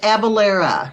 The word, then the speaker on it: Avellyra: book but but pronounced it's pronounced abalera okay good I hey